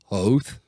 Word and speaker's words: Hoth: saying it yeah because george does call hoth oath and there's there's other